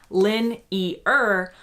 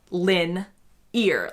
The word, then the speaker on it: linear: bit close still, but the way he says it is more similar to a 3-syllable lin-e-er, whereas the way I say it is lin-ear, like your ear.